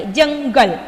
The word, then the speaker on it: जंगल: जंगल. जंग. हियर न प्रोनाउंस करेंगे.